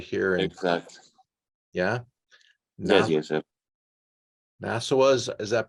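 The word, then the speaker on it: Naoussa: Nassau, is that pronounced correct? Nassau is the region, the appellation. Yes. Nassau.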